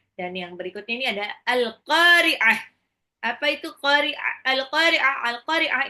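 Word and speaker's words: القارعة: menakutkan hati manusia itu alqah ya oke oke kita ulang ayat 1 dari surah alqariah ingat ya bacanya qah pakai Ain ya alqahqah alqah ini artinya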